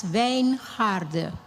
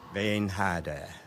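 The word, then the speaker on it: Wijngaard: My name My name is pronounced as Vain Harder. Vain Harder. It means vineyard.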